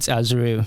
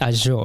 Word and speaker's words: Azure: businesses a a yeah I actually called it azour this morning but it's Azure a if you want